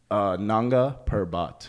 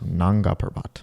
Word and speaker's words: Nanga Parbat: Like there's a place called how do you pronounce it? Nanga Parbat. Nanga Parbat.